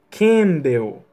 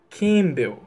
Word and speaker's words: Campbell: pronúncia desse nome, mas a pronúncia certa é Duncan Campbell. Você não pronuncia o P ali não é pronunciado. Então vai, eu sei que você consegue. Duncan Campbell.